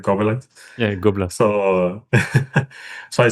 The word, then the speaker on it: Gobelins: I think French animation, I see like animation from Gobelins. You say it like that, right? Gobelins.